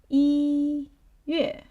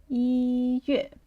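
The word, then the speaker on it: 一月: Here you can say E Yue, right? E Yue.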